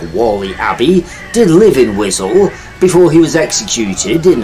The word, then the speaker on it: Wiswell: Wiswell, pronounced locally as Wizzel, as in the unsavoury underparts of a warthog, is the sort of